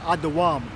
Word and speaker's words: Edom: Edom is pronounced Adawam.